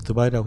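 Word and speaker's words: de Waal: 이제 두 거는 이제 영미권에서 베네트 영성의 되게 좋은 선생으로 알려져 있는 에스더발 그 한국에는 처음에 에스더로 설명되 있는데 저희는이 원래 발음대로 그들에서 드발이라고 했고요.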